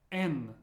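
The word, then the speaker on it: Н: next one is m n I know it looks like an H but it's pronounced like an n as in never n n the way I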